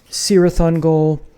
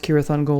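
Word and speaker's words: Cirith Ungol: other bands and so the band is serathon goal not pronounced kirathan go like in Tolkien this is the Frost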